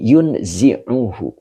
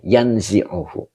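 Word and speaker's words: يَنْزِعُهُ: Nah, di sini yunzi'uhu. Yan bukan yun, yanzi'uhu. Ya, jadi dia menghilangkan lendir ya. Ini walaupun dibacanya mujarad tapi maknanya menghilangkannya. Melenyapkan ya. Jadi kalau ada yang baca yunzi'u juga boleh ya.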